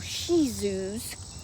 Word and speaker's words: Shih Tzus: She said when she comes out late at night with her two little Shih Tzus, you know that's how it's pronounced. The T is silent.